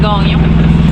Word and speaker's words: Gagnon: De l'île Saint-Louis et tu t'en vas explorer l'anse à Ga ognon, car ici on prononce Ga ognon.